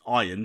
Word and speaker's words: Ian: Now, season 1 dealt with the power clash between McElhenney's Ian, pronounced Iron, because he's a dick, and Charlotte Nichol's lead programmer, Poppy Lee.